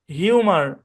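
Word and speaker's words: humour: প্রথম অংশের উচ্চারণ হিউ, পরের অংশের উচ্চারণ মার, তাহলে দুটো মিলে উচ্চারণ হিউমার।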